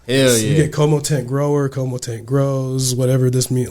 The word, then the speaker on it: CoMoTent: name I didn't even think KO tent grow Como tent grow Como tent grow yes hell yeah com tent grower Como tent grows whatever this mean like com tent grow